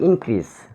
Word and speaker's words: increase: For example, the word increase. There are two syllables in this word. Increase. In one syllable, crease another syllable. Increase. So we should stress on the first syllable.